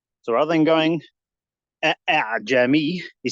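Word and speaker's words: أأعجمي: But for the next one, I don't pronounce it from that place. It's further up in the throat. A'jami. So it doesn't have a hamza quality.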